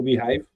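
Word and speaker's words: beehiiv: plataformas tu falaste no behive quer estou pronunciar L portanto B é h i v e não behave behive o que é que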